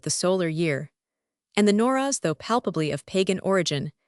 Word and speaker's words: Nowruz: The Nowruz, or New Year's Day here as in Syria, locally pronounced Nayraz, was established in ancient